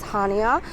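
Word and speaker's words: Chania: arrived in hania so apparently the sea is actually silent so you I guess pronounce it as hania our flight was a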